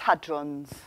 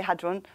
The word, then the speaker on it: hadron: And I think in America you pronounce it hadron, although you didn't. So I don't know. I say hadron.